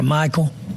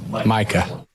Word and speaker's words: Micah: And when you have a franchise player and you keep saying his name wrong, what are people supposed to think? Did I talk to Michael? Micah.